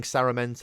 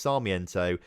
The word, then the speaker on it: Sarmiento: I keep saying Saramento. It's not Saramento. It's nothing like Saramento. It's Sarmiento.